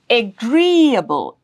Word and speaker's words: agreeable: The rule is the syllable right before the suffix gets the stress. So it is available available. The syllable before the suffix is a available. Agreeable.